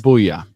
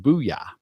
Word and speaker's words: Bulla: Booyah. Or yes. It's spelled Bulla. I'm sorry. Bulla. Yes. Pronounced Booyah.